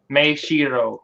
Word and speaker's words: Maeshiro: So they say if it was an M-A, it would be Ma, and then if it was M-A-E, it's a May.